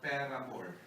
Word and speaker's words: paramour: You pronounce paramour as paramore. You check. Why? Because a paramour is one who always asks for more money.